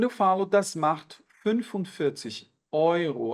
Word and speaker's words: Euro: Quando eu falo das macht 45 Euro, atenção para essa pronúncia. O E seguido do U é um ditongo de som OI, como se fosse o O seguido do I do português, tá?